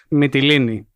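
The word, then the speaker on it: Mytilene: is how it contrasts with Athenian behavior toward Mitaline, which is earlier in the war. Mitoine, which I hope I'm pronounc coming close to pronouncing correctly, Mittellini, thank you, was a valued ally of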